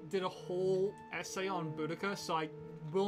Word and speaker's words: Boudica: Because Also, I Boudicca's believe it's symbol, technically pronounced Boadicea by British people, but I think it's actually pronounced Boudica.